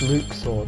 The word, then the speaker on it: Luxord: Luxor, another person we don't know yet. It is pronounced Luxord. I thought for the longest time it was Luxord. But no, it's Luxord apparently.